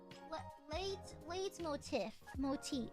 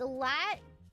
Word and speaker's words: leitmotif: Late motif. It's European terms. It's pronounced leitmotifs.